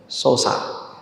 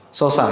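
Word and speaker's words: Xhosa: nama suku x h o s a Gimana bacanya Ya sosa x h o s a bacanya gimana Ha sosa ya suku ini bernama suku sosa dan mereka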